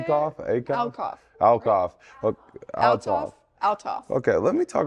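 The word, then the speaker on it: Althoff: Alcoff? Alcoff? Is that how you say Alcoff? it? Alcoff. Alcoff. Altoff.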